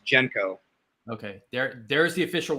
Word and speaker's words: JNCO: you say it anyway because it's spelled jnco so there's no vowel there i've heard uh right jenko that's the official way to say it right from the owners jenko okay there there's the